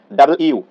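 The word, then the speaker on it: W: ডাবল ইউ, ডাবল ইউ এটা কিন্তু ডাব্লিউ বলি আমরা, ডাবল ইউ মানে দুইটা ইউ একসাথে রয়েছে, এটা আমরা ভুল করি।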